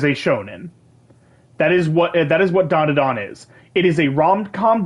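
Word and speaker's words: ダンダダン: I still need to watch Dan to Dan. You mean Don to Don? Is it Don to Don?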